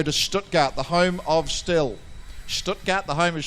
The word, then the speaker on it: STIHL: that we'll go to Stuttgart the home of still Stuttgart the homage still that's getting the pronunciation right isn't it okay let's get our